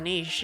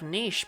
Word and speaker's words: niche: Hell of a niche, yeah. I've heard of niche, but this is ridiculous. Did you know it's not actually pronounced niche? It's pronounced niche.